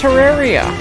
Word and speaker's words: Terraria: 6,000 hours playing, Terraria, is actually pronounced Terraria. So here's what I heard. So allegedly the whole Terraria thing started because Yogscast was mispronouncing it. And then a couple of Terraria YouTubers, they decided, hey, we're gonna call it that too. And yeah, it's actually called Terraria.